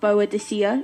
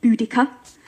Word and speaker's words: Boudicca: Bo u D ICCA it's not barred this year it's not do dis year it's booty cuts we were just talking